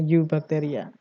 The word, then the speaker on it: Eubacteria: tentang archaebacteria dan Eubacteria tulisannya LTE bacanya harusnya you bacteria Bagaimana perbedaan dari kedua